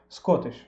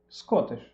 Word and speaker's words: Scottish: такой простой пример, например, шотландцы не произносят Т вообще. Чтобы привести какой-нибудь пример, возьмем простое слово, например, шотландец. На английском это, как пишется, так типа Scottish. Scottish.